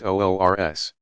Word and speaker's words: urs: The occasions are sometimes referred to as the Saint's Wedding Day, URS, pronounced OORS.